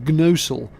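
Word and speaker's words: Gnosall: It's the village of Gnosul, though in reality you don't pronounce the G.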